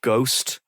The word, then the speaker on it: ghost: something like you know getting rid of the h in the word ghost. That would not make any obvious difference to our interpretation and reading of that word. G O S T. It would rhyme with host. It would rhyme with most.